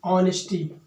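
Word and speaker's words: honesty: है साइलेंट होता है हा के साइलेंट होने की वजह से इसको हम क्या पढ़ने हैं ऑनेस्टी ऑनेस्टी का प्रनंसीएशन पहले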